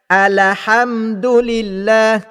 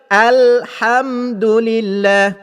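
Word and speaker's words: الحمد لله: batalnya solat di mana bunyi bacaan tersebut ialah alahamdulillah Saya ulang lagi sekali alhamdulill iaitu pembaca Fatihah membariskan lam yang bertanda sukun itu dengan baris di atas sepatutnya kalimah itu disebut dengan betul iaitu bunyinya Alhamdulillah bagaimana cara membetulkan bacaan itu ialah huruf lam yang bertanda sukun mesti dibaca dengan tepi hujung lidah menekan ke gusi atas tepi hujung lidah ditekan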